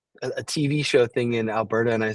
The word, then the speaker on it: Alberta: that you don't really Alberta Province it sounds kind of weird we you pronounce it with a d then a t it's Alberta not Alberta